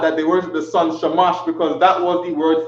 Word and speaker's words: Shamash: This is how they pronounced it, Shamash.